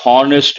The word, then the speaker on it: honest: above board also means honest and you have to recollect exam point of view common error a lot of people say he is a honest man wrong H sound is silent he is an honest